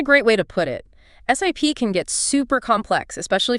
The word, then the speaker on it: SIP: that fit in right sip that stands for session initiation protocol and it's pronounced like you know like taking a sip of a drink got it not sip